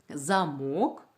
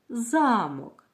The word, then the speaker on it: замок: малюнку замок і замок ці слова мають однакові звуки але вимовляються по-різному давайте вимовимо слово по складам перше слово замок скільки складів у цьому слові так два склада який склад ми говоримо голосніше другий вірно наступне слово замок скільки складів у цьому слові також два який вимовляється голо ніше Перший чи другий у цьому слові перший склад вимовляється голосніше склад який вимовляють голосніше називають наголошеним складом уважно розгляньте малюнок що